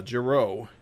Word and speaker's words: Giro: good work regards uh giro rhymes with arrow by the way burlingame